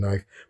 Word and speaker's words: knife: Middle English, it was spelled pronounced knife, like knife, knife, kne EF, and the Greek vowel shift dropped some consonants like the K. And you're pronouncing knife, but the spelling remained the same.